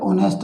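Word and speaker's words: honest: देख सकते हैं यह ऑनेस्ट आपका है, ऑनेस्ट यहाँ पर प्रोड्यूस हो रही है साउंड एच साइलेंट होने की वजह से।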